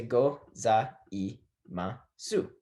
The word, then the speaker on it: gozaimasu: We're going to say go, za, I, ma, su. Now, a lot of times when you speak in Japanese, especially short phrases such as ohayo gozaimasu, you leave off the u sound.